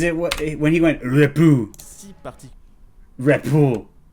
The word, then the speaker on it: repos: Is it what when he went repou? Si parti. Repou. Is that how do you say it? Repou? Yes. I need one more yes.